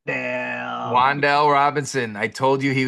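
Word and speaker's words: Wan'Dale: It's Wandale. Wandell Robinson.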